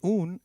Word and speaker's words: un: a female student the the U in un is pronounced as double O in Ubuntu and not like the U in umbrella so try saying un